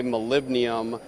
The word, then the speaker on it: molybdenum: So what we've got here, this is a molybdenum moly cut wire EDM.